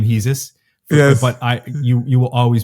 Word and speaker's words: Hesus: I know that some people call you Hesus. Yes. You pronounce sometimes your own name Hesus.